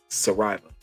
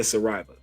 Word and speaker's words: Saraiva: Because nice, I can't pronounce her last name. Dang, oh boy, I need to learn Portuguese. Yeah, Flavia Saraiva. Saraiva. Flavia Saraiva.